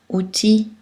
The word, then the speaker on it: outil: Mais dans certains mots, il ne se prononce pas. Gentil, outil, fusil, cul-de-sac.